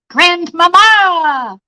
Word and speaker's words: Grandmama: or my new title Grandmama with the emphasis on the second ma mama kids got me